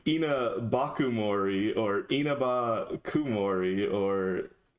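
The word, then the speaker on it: Inabakumori: romanized in one word I think it's en enaba Kumori no more more e not more a so like reading this it's like Ena bakori or Inaba Kumori or E NAA Kumori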